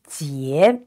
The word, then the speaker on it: 结: It's pronounced ye and with a rising tone. So it's ye. And the letter J is pronounced ji. So together it is jie.